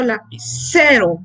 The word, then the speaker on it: lapicero: La fuerza la colocamos en la sílaba C. Ahí es donde colocamos la mayor fuerza al pronunciarla. Yo digo lapicero, ¿ya?